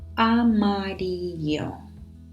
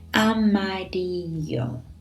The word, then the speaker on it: amarillo: Amarillo. So careful with the pronunciation there of double L, which is a bit different from a single L. So double L becomes a bit of like a Y. Amarillo.